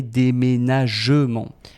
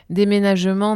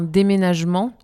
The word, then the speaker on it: déménagement: Mais en fait, on ne dit jamais déménagement. Déménagement, non, on va dire un déménagement. Bah, on mange le e.